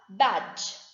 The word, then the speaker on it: badge: h then we have badge it is b a d g e where d is silent it is patches plain